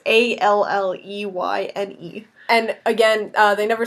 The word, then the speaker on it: Alleyne: Is it Zoe Aline? Is that how you say it? They never say it on the show, so I don't know. Zoe Washburn from Firefly. It looks like it could be Alan or but I imagine it's Elaine. Elaine, probably. It's one of those names. It's Alleyne.